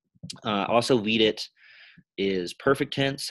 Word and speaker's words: vidi: Video, videri, it's a short I in the present, future, and imperfect forms. And vidi, it turns into a long I.